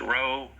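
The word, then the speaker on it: rho: zero that's equal to this is pronounced row one two because it's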